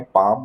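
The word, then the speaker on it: palm: हैं पाम ठीक है पी ए एल एम पाम यहां पर एल साइलेंट है ठीक है पाम बोलते हैं इसे हथेली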